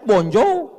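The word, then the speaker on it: bonjour: Tulisannya bon jowur. Bacanya bonjou. Bon soir, bonsoa.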